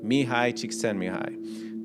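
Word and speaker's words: Mihaly Csikszentmihalyi: If you read any books on psychology, any books, you're going to hear this name, Mihai Csikszentmihalyi. Now, the way it's spelled is nothing like that, because this guy, I think he's like Hungarian.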